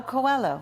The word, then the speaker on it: Coelho: Now, I will not try at all with my French to pronounce this guy's name. Get your glasses on. Tell me. How do you Paulo know? Coelho.